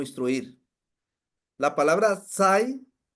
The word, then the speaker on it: xai: La palabra sai o sai, porque está es X-A-I, sai. Bueno, aquí en el dialecto aquí en México, en maya es la X se pronuncia como SH, shai, shai.